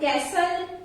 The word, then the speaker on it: castle: Words are given where T is silent. In words के pronunciation में T silent रहता है. So the words are like castle, depot, listen, often, fasten, bristle, kitchen, Christmas, rustle.